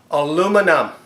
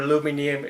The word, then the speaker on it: aluminum: And another shout out for Aaron is aluminum. 4 syllables, not 5. Just a little funny for you, Aaron. Not aluminium, whatever you say, aluminium.